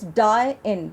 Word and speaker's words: dine: The correct pronunciation for dine is die-in. That doesn't rhyme with the word line.